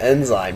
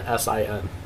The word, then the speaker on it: Ensign: I was like, they announced on it's spelled Ensign. I know, but it's sound. If I were to write it out how it sounds, it's Insin.